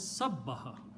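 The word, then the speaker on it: سَبَّحَ: Take the middle letter and put a shadda on that. This will be pronounced as sabbaha. Ba is coming twice, right?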